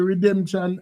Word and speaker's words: Redemsion: So basically with the night is is the pronunciation still redemption or redemption?